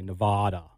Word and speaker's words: Nevada: Not Nevadan. I hate when people say Nevada. Nevada. No, it's not that, guys. It's Nevada.